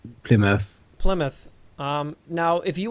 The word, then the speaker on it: Plymouth: the end they say like B mouth or P mouth I've heard people pronounce it like that well they are the only reason I know it's Plymouth is because there's a uh an well it's